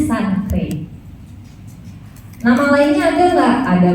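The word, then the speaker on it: chancre: Nah stadium 1 itu disebutnya itu oral sancre, bacanya sancre.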